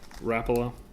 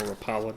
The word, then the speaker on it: Rapala: a DT series crankbait from rapola or Rapala depending on how you want to pronounce it all right so here